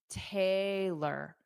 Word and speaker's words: Taylor: There's no uh at the end. It's Taylor. Taylor dada. Taylor.